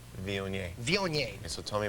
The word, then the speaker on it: Viognier: That varietal, how do you pronounce it? There was so much trouble with that. Viognier? Viognier.